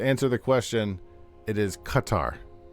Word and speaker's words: Qatar: So it's not quar. It's not coutar. Well, how should I know? If you have a qu, it's pronouncedqa. That's I mean I don't know. Am I Am I a mad man? Um, how do It's Arabic. It's more like Qatar.